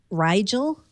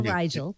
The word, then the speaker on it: Rigel: Maybe you guys can help me pronounce this. Rigel, I think, is the code name.